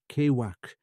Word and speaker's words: Ciuthach: Campbell informs us that the word is pronounced Kewak, and that the people so named are described in the Long Island as naked wild men living in caves.